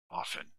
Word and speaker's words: often: Often. Often. Often. No, often. Often. No, no, what это? Те. Мы не произносим так, чтобы слышно было.